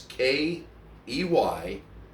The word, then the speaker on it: Keyush: So if you've never watched, and it's spelled weird, it's Keyush, The Stunt Dog.